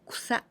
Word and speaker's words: 草: The second kanji, this one is, here we pronounce so in onyomi, but in kunyomi, this is 草.